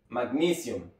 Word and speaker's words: magnesium: inglés y se pronuncia magnesium magnesium vean que es muy importante saber dónde está la sílaba tónica para que sonem de una manera más natural magnesium magnesium muy bien